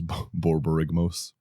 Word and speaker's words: Borborygmos: with Bobby this is five times damage the Bob rigmos good back to Bobby yeah that didn't take long everything is borborygmos at least you learned how to say his